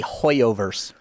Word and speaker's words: HoYoverse: Notice Fall, a surprise new action IP from the Oh god, I always mispronounce this. Hero, give it to me. It's the Hoyoverse.